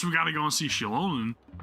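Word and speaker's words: Xilonen: gotta go and see Shilonen, who I pronounce as Zilonen in my reaction.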